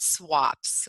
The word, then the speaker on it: SWAPS: We call it SWAPS. We like to pronounce our acronyms here in the School of Social Work.